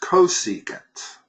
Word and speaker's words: cosecant: That's pronounced cosecant.